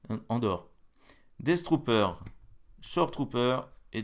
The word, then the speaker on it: Andor: Je sais pas comment ça se prononce, c'est Andor. Endor. Non, pas Endor. Andor.